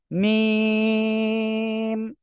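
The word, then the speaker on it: ميم: দুই ঠোঁটের শুকনো জায়গা থেকে আমাদের এই অক্ষরটা উচ্চারণ হয়, মিম।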